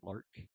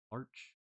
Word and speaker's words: Larch: I've been saying larch. It can also be pronounced lark. Lark. Larch. Lark. I'll just say lark. I guess I could look it up. Name pronunciation. Larch or lark? Larch. Larch. Yeah, I was saying it.